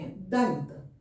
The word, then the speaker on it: दंत: तो न बोल रहे हैं। न क्यों बोल रहे हैं इसका उच्चारण? क्योंकि इसका त थ द ध न, इसका पंचमाक्षर न है, इसलिए यहाँ इस अनुस्वार का उच्चारण न होगा।